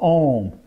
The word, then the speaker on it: Om: of these fingers and it is the a sound of ohm in ohm if I say sometimes people will say like oh I'm gonna be very impressive oh oh if I say it like that it makes the sounds very clear because at the beginning there is an there is an up sound you cannot go do